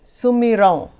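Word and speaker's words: सुमिरौं: Sumiron. Here is again that nasal sound when it ends with the M and has the dot on the top. The M is silent, so it's Sumiron.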